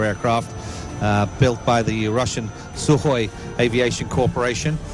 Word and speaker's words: Sukhoi: and course flying the Sukhoi su-24 su-30 I've got to practice my Russian graduates its Sukhoi even though there's a K in there apparently you don't pronounce the K it's sooo high and